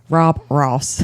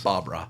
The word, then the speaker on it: Bob Ross: Rob Ross. It's funny. It's just crazy because I Not Rob Ross. Bob Ross. Oh, Bob Ross. Okay. She said it wrong.